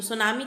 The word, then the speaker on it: tsunami: तो सुनामी किससे बना हुआ है, सू का मतलब हार्बर, यहाँ पर टी साइलेंट है, तो सू का मतलब हार्बर और नामी का मतलब वेव।